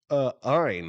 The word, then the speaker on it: Ayn: pronounce Ayn Rand, and he refused to pronounce her name uh Ein. He just calls her Ann.